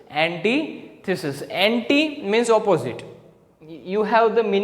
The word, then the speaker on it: antithesis: How will you pronounce this? You will pronounce this as antithesis, not antithesis. It is antithesis.